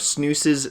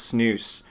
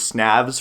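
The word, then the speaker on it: Snavs: i thought it was snazz for the longest time but i saw an ama on reddit where he talked about how his name is actually pronounced snooze where the v is a u something that blew my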